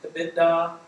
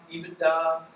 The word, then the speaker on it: EBITDA: You'll hear it pronounced different ways, EBITDA, EBITDA. I use EBITDA.